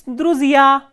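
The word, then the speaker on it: друзья: It is druzia, druzia. So, here stress is on the ending ya.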